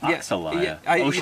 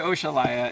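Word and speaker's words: Oxalaia: Oh, I've always said Oxalaya. They pronounce it Oshalaya, yeah.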